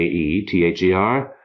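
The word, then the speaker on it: aether: after classical times and by Medieval Times AE had something of a long e sound so a e t h e r came to be pronounced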